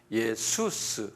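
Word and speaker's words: Ἰησοῦς: 21이 이름이 예수라 이름이에요 영어론 지저스 또는 그리스 말는 예수스 그래 이거 똑같이 똑같이데 예수스 이렇게 봐 한번 발음해 보세요 예수스 예 예수스 우 우리가 이게 그리스말 헬라 말로 예수스 그러거든요 그러까 우리가 예수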